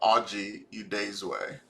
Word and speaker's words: Oji Udezue: on video um and this is how to pronounce my name audrey udaysway uh i'm a product manager like i said